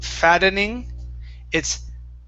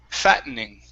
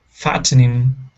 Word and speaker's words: fattening: Okay, so instead of saying fattening, we can say it 2 ways. We can say fattening, pronouncing the T like a normal T, or we can use the British way, okay, where we swallow the T and we say fatten, fattening. Okay, fattening.